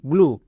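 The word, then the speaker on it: blue: ই থাকে তার উচ্চারণ হয় না তাহলে এটার উচ্চারণ দাঁড়ালো বি এল ইউ ব্লু তাছাড়া আমি আগের ভিডিওতে বলে এসেছি কোন শব্দ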